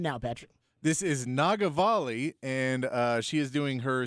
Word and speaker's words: Nagavali: This is Nagavali, and she is doing her CD release Saturday at Stateside at the Paramount. Okay, say her name again. Nagavali. Nagavali? Nagavali. Say it slow. Nagavalli.